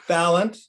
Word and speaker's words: Balint: and that's Senator Becca Balint, which I'm told to remember how to pronounce by the fact that it rhymes with talent. So it's Balint.